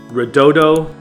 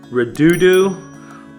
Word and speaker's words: Redodo: the company red Auto I've heard it pronounced rodoto redo but I don't know for sure but I believe it should be red Auto for a couple of reasons you guys can be